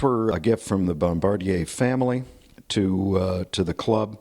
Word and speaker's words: Bombardier: one of the original Bombardier French pronunciation Bombardier snow snow cats they are presently being restored and will be used for special events for the club these were a gift from the Bombardier family to to the